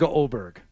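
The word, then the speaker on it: Åberg: Okay, how do you pronounce his name? The A with the O on top of it. Oberg. It's Oberg. It looks like Okay. Aberg, but it's Oberg.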